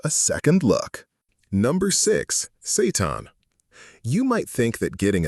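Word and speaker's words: seitan: Meet Satan, pronounced Satan.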